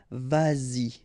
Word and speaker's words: vas-y: Same thing here, vas-y, vas-y, all right?